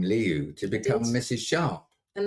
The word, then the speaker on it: Lihou: I think Liu, which is spelled Lihou, for those who are wondering, Liu means a little hill.